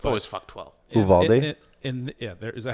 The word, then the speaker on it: Uvalde: Uvalde?